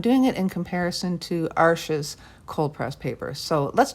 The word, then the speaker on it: Arches: paper so fun fact it's pronounced arch not arches and the only reason